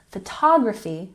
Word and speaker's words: photography: Photography has the emphasis on the second syllable.